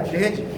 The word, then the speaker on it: दहेज: हाँ यार, दहेज, मेरी प्रोनाउंसिएशन ज़्यादा खराब हो गया लगता है। असल में उसे हिंदी में दहेज बोलते हैं, हम उर्दू में जहेज बोलते हैं उसे।